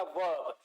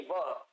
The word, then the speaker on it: verb: रा जहां पे भी आएगा और बीच में होगा तो बहुत ही हल्के इंटोनेशन से बोला जाएगा वर्ब, वर्ब नहीं वर्ब. जरा सा हमारे इंटोनेशन को गौर करिएगा.